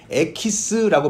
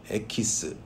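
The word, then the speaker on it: エキス: 이 EX라는 말을 딱 떼내서 일본에서 에키스라고 발음을 했대요. 에키스.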